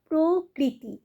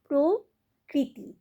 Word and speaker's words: প্রকৃতি: বলে দিই যেমন অমৃত অমৃত কিন্তু হবে না উচ্চারণটা অমৃত প্রকৃতি প্রকৃতি কিন্তু একেবারেই বলবে না কি বলবে প্রকৃতি মাতৃ মাতৃ মাতৃ নয় তয়রি তাহলে মাতৃ আর